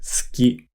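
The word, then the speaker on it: すき: Notice how we don't really pronounce the u sound when we say suki.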